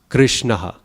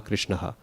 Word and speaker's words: Krishnah: So Ishvara Parama Krishna. Not Ishwaraha Paramaha Krishnaha. Right? You're adding too many syllables.